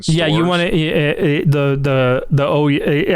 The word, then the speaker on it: Ouya: I think it was actually called the Ouya. But I thought it was the Ouya. No, I think how it was supposed to be pronounced was the Ouya is what I meant.